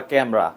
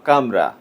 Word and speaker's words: Khamrah: পারফিউমটি নিয়ে রিভিউ করেছেন অনেকে অনেক ভাবে প্রোনাউন্সিয়েশন করে থাকেন অনেকে বলে লাতাফা ক্যামরা অনেকে বলে লাতাফা কামরা আবার আমরা বলছি লাতাফা খামরা প্রোনাউন্সিয়েশনে কি এসে যায়